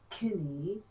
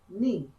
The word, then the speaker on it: knee: Don't say kinny, say knee.